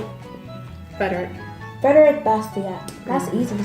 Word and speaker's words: Bastiat: They couldn't quite pronounce the author's name, Frederick Bastiat.